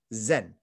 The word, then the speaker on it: Zen: is not tonal and they pronounce this character Chan Zen zeen and so if